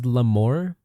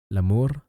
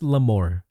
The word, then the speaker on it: Lamore: Lamour. But no, it's pronounced lamore. Lam more. So like you know you know English like more you just add la to the beginning.